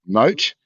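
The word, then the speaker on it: מוט: m o WT yes pronunciation is moot primitive route by implic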